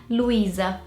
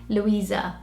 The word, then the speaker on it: Luiza: In Brazil, we would say this one Luiza. And I think in the UK, you'd probably say it Luiza, which is more of a OU sound than a just U. So the Brazilian way is Luiza and the British way is Luiza.